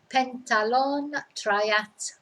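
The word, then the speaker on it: pentatlón: to pentathlon and triathlon no h's in there though because you know they don't do these silent letters in spanish so it's pentalone and following on from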